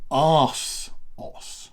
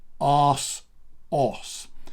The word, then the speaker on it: ASOS: Now, it's only Asos in the US. In Britain, we say Asos. Okay, so it's two separate syllables, Asos.